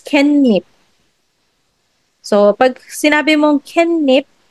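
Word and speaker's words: 깻잎: doon, hindi, ang spelling is ket, ketib, pero pag pronounce mo siya, it's kenip.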